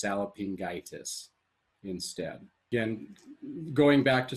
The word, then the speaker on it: salpingitis: begins with a vowel so you wouldn't go sallopingo itis or try to pronounce it together and go sally sallopingwitus because the o and the i would be oit and so you're not going to say cellophingoitus but it would be just salopingitis instead again going back